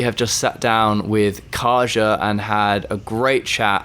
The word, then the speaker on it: Kasia: Okay, I'm going to need you to pronounce your name because I butchered it earlier and I don't want to do it again. Kasia. Kasia, there we go.